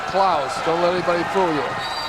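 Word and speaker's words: Claeys: night said uh is he spells his name C L A E Y S. He pronounces it Claus.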